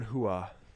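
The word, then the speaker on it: Rua: never in a shogun i would have got hua it's portuguese so the r is an h yeah anything portuguese just pronounce the r's as h's this is what i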